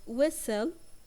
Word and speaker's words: whistle: silent we have the word whistle and the t is silent and we have the